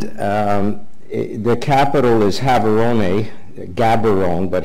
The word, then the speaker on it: Gaborone: South Africa and the capital is having only Gaborone but have aroma is how they would pronounce it sitting in the southern tip here's